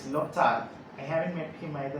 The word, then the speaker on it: Lyotard: We all have different ways of pronouncing this name because this word is very terrible. Lyotard, Lyotard or Lyotard, but Google says it is Lyotard.